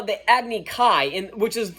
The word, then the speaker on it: Agni Kai: But what do they pronounce it? They pronounce it Agni Ki.